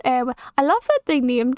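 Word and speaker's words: Éowyn: Pronounced Eowyn.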